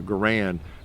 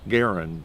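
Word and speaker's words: Garand: be a making it a point to always pronounce you know Gan Garen because that's why he pronounced his name or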